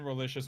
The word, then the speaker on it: Relicious: I have been Relicious. My name rhymes with delicious.